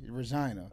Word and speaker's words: Regina: yeah above North so it's spelled Regina but they say Regina oh got you got